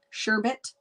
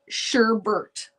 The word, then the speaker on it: sherbet: got to be english right sherbet but i want to know who else can't stop themselves now that you know you know that you were saying it wrong can you stop yourself